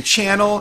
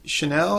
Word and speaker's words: Chanel: some Gucci and some channel in my channel you mean Chanel if you can't pronounce it right but anyway what was